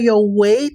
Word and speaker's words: weight: i par exemple mot ça qui très commun prononc c'est ça he OK par exemple l'hôpital et puis infim a dit let measure weight and he ok ça c'est weight ça c'est